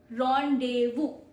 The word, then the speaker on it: rendezvous: This D and this Z is silent as this.